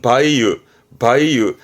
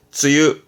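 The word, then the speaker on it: 梅雨: 발음은 바이유. 이 바이유 음독의 경우는 이렇게 해서 장마 전선을 말하는 바이유젠센 정도만 쓰게 되고요. 이 장마를 말할 때 바이유는 요 정도고 주로 쓰게 되는 케이스는 쯔유. 장마는 흔히 쯔유합니다.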